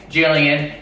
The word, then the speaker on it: Gillian: lie and the pronunciations if it's my name Jillian if it's anything else the Gillian girls uh the Gillian girl cosmetic all that that is a hard G so like and I